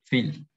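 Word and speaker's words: viel: Víctor, bueno, Víctor es una excepción porque es un nombre, pero si aquí tuviéramos otra palabra con B corta, por ejemplo, Phil, que significa mucho, eso se pronuncia como una F, la B corta, Phil.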